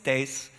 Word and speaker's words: Thijs: So that being said, hi, my name is Thijs. That's how you pronounce that.